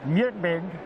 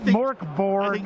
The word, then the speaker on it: Mörk Borg: But, now, I've heard this game pronounced a million different ways. Sure. I was told it's MÖRK BORG, like MÖRK BORG, not Mork Borg.